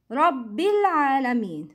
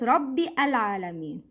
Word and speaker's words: رب العالمين: don't pronounce همزة الوصل Rabbil Alameen. We say Rabbil, not Rabbi Alameen. Don't pronounce Hamzat Al-Wasl.